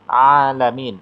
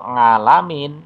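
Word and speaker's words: عالمين: sebutkan ada contoh misalnya bacaan alamin Aa pakai Ain ya itu artinya alamin itu artinya sekalian alam tapi kalau ngalamin itu tidak ada artinya ya Jadi ini penting pengucapan makhorijul hurufnya Ain itu keluarnya dari tenggoran a bukan nga tapi Aa jadi kalau pelafalnya salah ya membunyikannya Salah itu bisa memiliki perbedaan arti iyaka na'budu iyaka pakai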